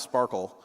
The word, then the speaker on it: SPARQL: the first one it it's pronounced Sparkle for those who don't know but I like to